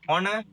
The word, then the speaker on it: honor: And in honor, it's once again O.